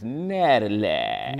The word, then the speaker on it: Natalac: And it's Natalac. Natalac. You gotta say it like. Yeah, they put the twang on it, right? Yeah, you gotta put them three A's in it.